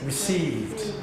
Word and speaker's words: received: Received. Received. Received. Received. How do you pronounce this bit? The same. Received. Received. It's not t, d, it's a d sound.